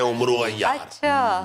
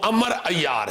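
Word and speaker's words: عمرو عیار: वो उमरू अय्यार नहीं है, कहते हैं गलत कहते हैं उमरू अय्यार, वो अमर अय्यार है वो नाम। वो ये अरबी के लफ्ज हैं सारे, इसलिए जब इसको पढ़ा जाता है तो वाओ जो है वो साइलेंट हो जाती है और एन के ऊपर जबर आ जाती है, अमर अय्यार।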